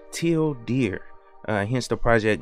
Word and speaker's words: tilde: it says down here if you pronounce tilde in english it sounds like till deer hence the project name